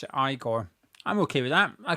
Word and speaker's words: Igor: Someone's saying you pronounce it Igore.